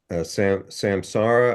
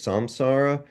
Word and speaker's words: samsara: Oh, and one funny thing, there was this Buddhist term that I was always mispronouncing, which is, and I might have reverted to my mispronunciation, samsara. I think it's samsara, but I was calling it samsara the whole time.